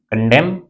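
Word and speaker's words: condemn: जैसे हम लोग कभी भी, आप ध्यान रखिएगा, यम के बाद यन है तो वहां पे यन साइलेंट रहता है। जैसे आपने पढ़ा होगा कॉलम, तो कॉलम की स्पेलिंग क्या होता है? COLUMN। यन को नहीं पढ़ते, कॉलम ही पढ़ते। उसी तरीके से इसको पढ़ते हैं कंडेम।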